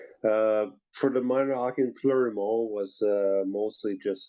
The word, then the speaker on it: Fleurimont: So you were born in Froidmont, Quebec, Canada. Hope I got the French accent down there. Is that where you kind of first learned to play hockey? Yeah, it's Fleurimont, in to say it right.